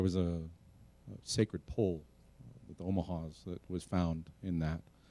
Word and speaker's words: Omaha: tribe of Nebraska uh which is pronounced nasly way up in your nose Omaha uh and um somebody